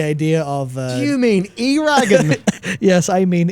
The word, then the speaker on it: Eragon: Rhymes with dragon. But the idea of... Do you mean Eragon? Yes, I mean Eragon Aragon.